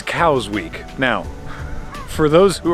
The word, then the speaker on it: Cowes: be especially expensive at the moment because it's Cows Week.